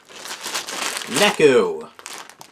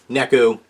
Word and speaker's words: Neku: Good for you, Neku. Which also rhymes with Deku.